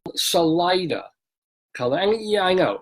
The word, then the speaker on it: Salida: place in Colorado called Salida. And yeah, I know, it's spelled like a Spanish word. It means the Spanish word for exit, salida, salir, right? So you figure, oh, it should be Salida. No.